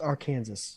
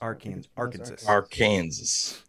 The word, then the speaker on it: Arkansas: Brian, I think it's pronounced Arkansas. Arkansas.